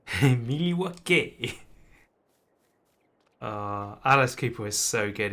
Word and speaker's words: Milwaukee: It's pronounced Milwaukee. Milwaukee.